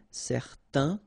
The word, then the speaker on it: certain: Okay, so it's nasal in your nose, un. Okay, if you add this at the end, then it will change the thing, and then you will pronounce it n.